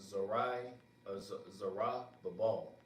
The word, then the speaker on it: Zerubbabel: Yep, so this name, the name Zerubbabel in the Hebrew is pronounced Zarah Babal.